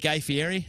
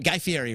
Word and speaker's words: Fieri: Sophistafunk has been known to hang with Guy Fieri. Is that how you say his name? Guy Fieri, right?